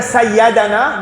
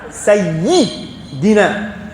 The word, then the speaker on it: Sayyidina: Et nous pas dire Sayyadana, nous dire Sayyidina.